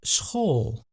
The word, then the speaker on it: school: De school. De school. We write it the same way, but we pronounce it completely different.